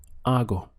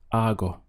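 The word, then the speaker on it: hago: which in Spanish is our go it's a really nice sound the H is silent so your pronunciation just starts from here our go this means I do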